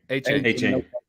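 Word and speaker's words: Achane: And then you got the big play guy, Arcane, who can pronounce that for me, Brent. How you pronounce it? A-Chain.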